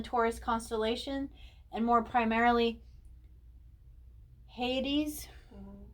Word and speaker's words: Hyades: and more primarily hades again i apologize if i say it wrong i'm really still trying to learn how to say these um hadium beings is what they would be but uh it's h-y-a-d-e-s hate hyades okay and this is when